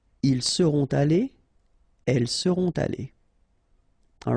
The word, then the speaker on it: allées: So you'll put this s, you don't pronounce it, but still you need to put it. Okay, elles seront allées.